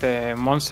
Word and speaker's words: Monse: But these 2 artists, Flashback and I always say this name wrong. Monse, right? Torres? Monse, yeah.